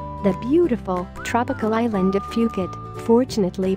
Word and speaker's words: Phuket: teaching English worldwide the beautiful tropical island of Phuket fortunately pronounced as Phuket is frequently and justifiably referred to as the